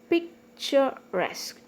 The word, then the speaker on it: picturesque: And antique and picturesque. This is trisyllabic. Picturesque. So resque is one syllable, that's why the stress is on the last syllable.